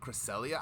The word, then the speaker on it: Cresselia: that's i instead of some people say cresselia i've always said crescelia like ever since i've